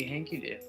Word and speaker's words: HankyDO: That would be HankyDO. HankyDO! We know how to pronounce it right now!